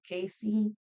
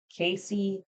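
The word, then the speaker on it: Kaycee: Her first name, Casey, it's spelled like K as in kangaroo, A as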